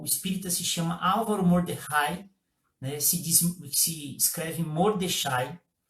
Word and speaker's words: Mordechai: Mas ela é maravilhosa, porque ela é uma palestra, a pessoa, o espírita se chama Álvaro Mordecai, né, se escreve Mordechai, e ele tem origem judaica.